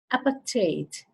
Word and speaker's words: apartheid: Apartheid. You can also pronounce it apartheid.